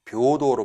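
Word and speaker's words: 平等: 혹시 이렇게 발음하신 분 계실까 모르겠는데 맞아요. 그런데 이게 맞는데 이 녀석은 예외적으로 이렇게 발음하시면 안 되고요. 타금 2번 잊지 마시고요. 묘도로 발음합니다.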